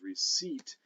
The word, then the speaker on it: receipt: get to the however the same thing happens with reset in in middle english which once the vowel shifts becomes receipt and uh and we spell it with a p why well because it ultimately comes from latin capio capere uh capicoptus and uh so we had better put the p in there don't you see uh